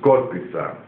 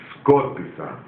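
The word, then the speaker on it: σκόρπισα: Yes, in Greek, write down, been translated, skorpisa. Scattered, past tense in Greek language. Scattered, English. It's been translated in Greek, skorpisa.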